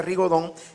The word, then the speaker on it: rigodón: rigodón o ri gaudón que es como se escribe en francés pero se pronuncia rigodón Vámonos muchachos pero vayamos